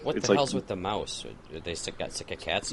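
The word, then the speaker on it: Maus: And to be fair, it's M-A-U-S, which we all pronounce as mouse.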